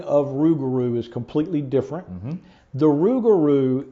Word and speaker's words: Rouxgaroux: came up and said let's do rugaru and spell it with x's so we actually came